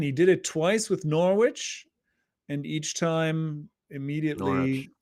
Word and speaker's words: Norwich: He did it twice with Norwich and each time immediately Norwich. Norwich. Norwich. Remember you got the English. It's their words. So even though it's bonkers, we have to pronounce it there.